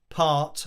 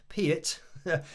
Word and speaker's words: Peart: So I remember that interview because when people say part or pert, it's like Peart is actually how he used to say it, or at least how it should have been pronounced.